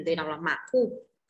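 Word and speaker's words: 马虎: Ừ, từ đọc là mạc khu. Cái từ khu đằng sau thì người ta hay đặt thanh nhẹ nhiều nên sẽ đọc là mạc khu nhé. Đừng đọc má khu, đọc là mạc khu đi.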